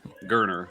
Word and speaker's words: Garner: high hopes to Holden Garner I'm sorry let me pronounce his name gerner like Turner with a G um however uh kids